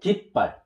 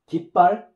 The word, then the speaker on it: 깃발: So originally it was 기발, but 기발, 기발 is difficult to pronounce.